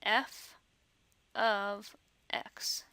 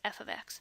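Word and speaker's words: f(x): F parentheses X parentheses which we don't actually pronounce it that way we pronounce it f of X so the F parentheses X parentheses is really pronounced f of X so let's say you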